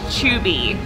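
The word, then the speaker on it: Chuuby: So this is a new breakout character for the attraction, and his name is Chubby. It's pronounced spelled C-H-U-U-B-Y, and he is just adorable.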